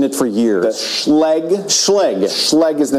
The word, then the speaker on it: Schlage: Say the name one more time because I've been mispronouncing it for years. The Schlage. Schlage.